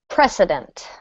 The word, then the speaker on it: precedent: and the last one precedent precedent presedent precedent make sure this is a s sound otherwise it will sound like the word President we don't want that